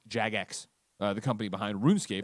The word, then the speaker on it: Jagex: of funny calm slash wrong it says it's pronounced jagex the company behind roof scape that the browser-based